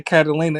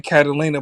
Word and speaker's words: Carolina: When I say Catalina, it's spelled like Carolina, like North Carolina.